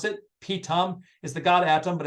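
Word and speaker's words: Pithom: we actually pronounce it pitom is the god atom but it's a pitom uh and that's actually pronounced pit thumb and we're very very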